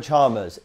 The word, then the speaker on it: Chalmers: That's Chalmers, how you put it. Chalmers, yeah. I didn't know how to pronounce it properly, but Chalmers, yeah?